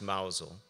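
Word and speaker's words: Mousehole: lived in llane cottage mous hole that was my address pronounced mousel Edgar was born there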